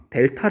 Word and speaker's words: 델타: 세모와 이라고 하는데 이건 우리가 어떻게 있냐면 요 델타 라고 읽어요 어떻게 있느냐 를 다이 델타는 무엇이냐면 으